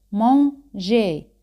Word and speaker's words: manger: El verbo comer en francés es manger. Manger. E y R al final se pronuncian como E española.